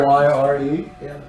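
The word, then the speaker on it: lyre: L-Y-R-E? Yes, that's what we were talking about. Rhymes with Zyre.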